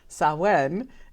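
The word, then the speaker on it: Samhain: comes from Gaelic so it's definitely pronounced a lot different than it's spelled but it's a Celtic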